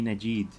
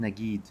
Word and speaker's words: Najid: Not Nagid, not with a G. It should be a J, because that's like the official pronunciation of his name.